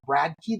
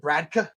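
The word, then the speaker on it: Bradtke: It's a company called Bradkey that I spelled B-R-A-D-T-K-E. I think is how I Bradkey. I think that's right. And it was pronouncing it Bradka.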